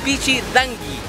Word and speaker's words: Pichidangui: Cuando vienen a este lugar dicen, fui a la playa de Pichidanqui, con R, no señores, la playa es playa de Pichidanqui.